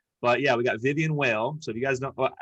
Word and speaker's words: Weyll: yeah we got vivian whale so if you guys don't wait how do you say your last name vile v vile okay it's like a german last name right i gotta get